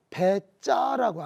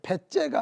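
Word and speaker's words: בצע: 여기서 이익이란 말의 히브리 원어가 배짜라고 하는 말이거든요. 발음 잘해야 돼요. 배째가 아니라 배짜입니다.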